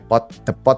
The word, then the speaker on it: depot: Ketika keretanya udah di depo namanya, tulisannya depot tulisannya, tapi bacanya depo.